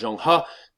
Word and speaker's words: Zheng He: his boy, Zheng He, a.k.a. the way you pronounce it is Zheng He, So Zheng He is going to go out.